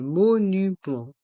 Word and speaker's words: monument: monuments dans le mot monument il y a le son en avec les lettres e et N et le T le S sont mués les monuments les monuments les monuments un musée un château